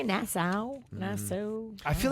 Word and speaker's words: Nassau: this from Jen said I am aware that Nassau has a u at the end but does it really have to be pronounced like that asking for a friend